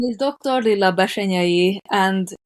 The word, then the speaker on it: Bessenyei: name is Dr Lia bashay and it's weird to pronounce it it's Hungarian so don't worry about it